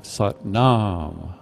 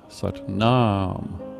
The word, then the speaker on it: Sat Nam: And then the second line, it's also the last syllable, sat nam, sat nam, sat nam.